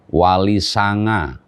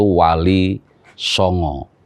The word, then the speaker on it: Wali Songo: yang terpuji tetapi kemudian orang Jawa menyebutnya dengan Walisanga tetapi terkadang juga sangat itu diucapkan dalam bentuk ejaan o yaitu Wali Songo Nah apa sebenarnya peran